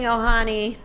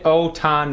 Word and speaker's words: Ohtani: Hang on, I'm taking Ohani. Oh. No, Shohei Ohtani. Ohtani. I know. Shohei I was like, wait, I just said it wrong.